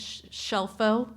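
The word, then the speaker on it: Scelfo: So, my last name is Shelfo and it's spelled S C E L FO and my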